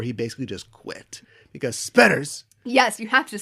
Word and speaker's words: Spetters: Do yourself a favor and search for SPETTERS. Spelled like it sounds.